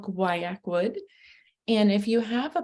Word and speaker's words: Guaiacwood: call today we're going to be talking about guayak wood that's how you say it lots of people don't know how to pronounce it it is called guayak wood and if you have a bottle please go